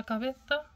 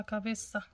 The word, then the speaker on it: cabeza: la cabeza, la cabeza, zeta كتنطقت، ولكن الأغلبية ديال الناس كتقول لا كابيتا، ولكن الأغلبية كيغلطو كيقولو لا كابيسا، يا لا كابيسا.